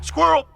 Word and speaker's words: squirrel: Bon là c'est assez particulier, c'est squirrel, avec un I qui se prononce comme le E, mais un E qui est muet. So that I may talk, squirrel!